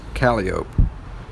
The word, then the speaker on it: Calliope: the calio projects the street that namon is caliop it's spelled the same way as calliope but it's